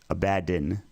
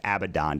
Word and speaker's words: Abaddon: it's tough to pronounce the way I think about it is though there's two D's in his name so a bad din rather Abaddon doesn't make sense because that'd be two B's just think about it